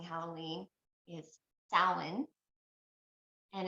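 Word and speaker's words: Samhain: of pronouncing Halloween is Stalin and it's spelled not how it sounds whatsoever it's not like Sam Hayne oh that's weird I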